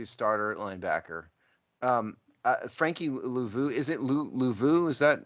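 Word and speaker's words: Luvu: Frankie Louvu, is it Louvu? Is that how to pronounce his name? Yeah. Louvu.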